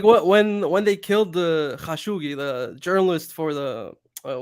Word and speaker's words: Khashoggi: the uh was it is that how it's pronounced khashoggi yeah everyone's calling him khashoggi no it's called bro that's great thanks man the culture is not the worst the culture needed that correction it was called khashoggi so like when he